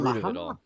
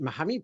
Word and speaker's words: Muhammad: I pronounce it Muhammad because in England I got used to it like that.